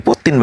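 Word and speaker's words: Путин: Ini Putin bacanya ini. Ini tulisan, jadi tulisan Rusia itu.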